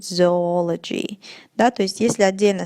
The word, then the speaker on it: zoology: да, слова это zoo, many people say zoology или zoology. That's not correct. Это неправильно, и правильное произношение будет zoology.